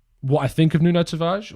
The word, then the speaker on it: Tavares: But in regards to what I think of Nuno Tavares, or Tavares, if I'm speaking in a more Portuguese pronunciation.